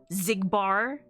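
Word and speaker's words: Xigbar: many of the names pronounce it like Z, like Xehanort, Larxene. So Susan is not a stretch of how to pronounce the name. Zigbar. They're all Z pronunciations of the letter X.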